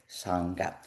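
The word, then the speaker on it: Śārṅga: So Shanga, it's spelt in Sanskrit in a very unique way. So there is a ra there.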